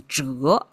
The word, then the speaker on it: 宅: Well, it turned out it's pronounced as zhái, and the whole thing is pronounced as zhái, and it means residence.